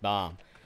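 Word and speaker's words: balm: bomb I keep calling I'm going to keep calling it Bland out of out of just out of instinct but it's pronounced bomb but that's okay we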